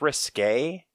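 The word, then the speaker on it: risqué: Okay, it's risque, the way that they spell it.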